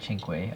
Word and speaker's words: cinque: or cinque i think it's pronounced chinkway also by granny and